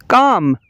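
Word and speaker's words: calm: का L silent है काम काम का मतलब है सुकून काम का एल साइलेंट है पाम पाम का मतलब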